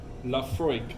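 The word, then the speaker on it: Laphroaig: Lafroig, yeah, and we're pronouncing it correctly.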